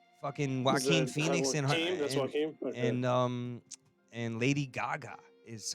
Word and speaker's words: Joaquin: Fucking Joaquin Phoenix and That's Joaquin.